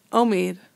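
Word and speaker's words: עומד: Omed. I have my cholam, my o made. Wait, I have my o made. I have my cholam. And under my mem, I have a tzere rhyming with shomer, my classic example of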